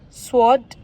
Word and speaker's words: sword: Again: whole, right, rack, to, wrap, sword, wrist, answer, wrinkle, whom, wriggle. So friends, इसी के साथ ही हमारे silent letters जो थे वो भी आज ख़त्म हो गए हैं.